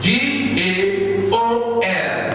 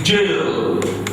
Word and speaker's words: gaol: G-A-O-L is not gaol. It's jail. Pronounce it. Jail. The way you pronounce your J-A-I-L.